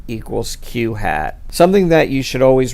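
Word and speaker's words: q̂: the survey we have Q hat and it's pronounced Q hat and it represents the proportion of those in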